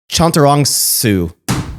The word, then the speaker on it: Chantarangsu: So it's just like it's spelled. All right. Just break it down, and all the A's are A's. Okay. Chantarangsu.